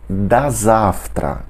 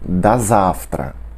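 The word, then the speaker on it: до завтра: Outra despedida que usa a preposição do é da завтра. Da завтра. Da завтра. Que significa até amanhã. Da завтра. Da завтра. Veja como aqui pronunciamos tudo junto de novo e como o fica com som de a.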